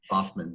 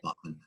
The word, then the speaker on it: Baughman: His name is David Baughman. You can correct me if I pronounce it wrong. Very sorry for my accent. Baughman, B-O-F-N, Baughman.